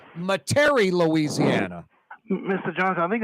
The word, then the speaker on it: Metairie: I think it's pronounced Metairie, Louisiana. Mr. Johnson, I think it's some people say Metairie.